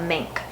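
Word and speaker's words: menk: were killed by a mink now I'm hoping pronouncing that correctly it's Emmy NK and it is basically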